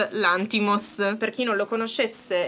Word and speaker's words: Lanthimos: molto si chiama oltretutto adesso ve lo dirò con l'accento giusto e io ho sempre sbagliato l'accento perché si è l'anti moss per chi non lo